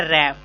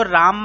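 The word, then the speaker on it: RAM: पहला है रैम, इसको राम मत पढ़िएगा, आरएम राम होता है, बट कंप्यूटर्स में प्रोनाउंसिएशन जो इसकी होती है वो रैम होती है।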